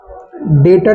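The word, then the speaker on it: debtor: return क्या होता है डेटर क्या होता है हम लोग यहां प डेप्ट से नहीं पढ़ेंगे बी हमारा क्या होता है यहां पर साइलेंट होता है याद रखिएगा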